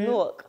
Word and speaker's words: Newark: Newark. Spelled like four.